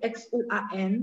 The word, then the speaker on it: xuan: Bagian ketiga ya, ada X U N, sorry, X U A N dan S H A N. Silakan untuk X ketemu U, mulutnya bulat ya. Jadi bacanya xuan, xuan.